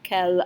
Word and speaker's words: quel: So il a quel âge becomes elle a quel âge. Elle and quel rhyme with each other.